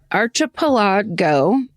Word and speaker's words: archipelago: Right off the coast is an archipelago. I don't know how to pronounce that.